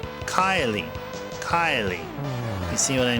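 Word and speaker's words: Kaeli: Now if you say it fast, it sounds like Kylie. Kylie. Kylie. You see what I mean? It sounds like I'm saying it sounds like pronouncing it as K Y L I or something, right?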